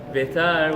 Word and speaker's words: Betar: And Betar, which was one of the Biter, depending how you pronounce it, was one of the cities, which was the hub.